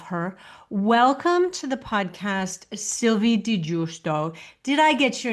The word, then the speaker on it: Sylvie di Giusto: Welcome to the podcast, Sylvie di Giusto. Did I get your name correct? Because it's a little bit tricky to pronounce.